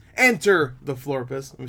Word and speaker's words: Florpus: the teaser trailer for invaders in enter the Flores enter the floor pissed let me say it right and this of